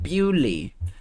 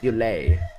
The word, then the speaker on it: Bewley: Bewley, it's pronounced Bewley. Deep in the moors. I'm having a difficult time understanding things. Bewley, not Bewley.